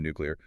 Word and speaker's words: nuclear: English has a lot of words that end in C-U-L-A-R. Molecular, particular, spectacular. Yeah. Our brains are incredibly comfortable with that keylor rhythm. Right. So when confronted with a slightly more awkward clear in nuclear, our tongues just take the familiar, well-worn path.